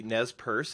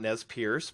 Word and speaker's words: Nez Perce: and have that going on yeah speak of pronunciation obviously Nez Perce it's not Nez Pierce but I still hear that including on one